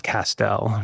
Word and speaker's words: Castel: And so I tell people my last name is Pastel, Castell, you know, Castell rhymes with pastel and my grandfather used pastels, let's say.